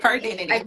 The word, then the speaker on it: Her:Dentity: her identity yeah so it's actually her dty her dentity sorry I was pronouncing it wrong because I don't know why I seen the her dot there does it everybody's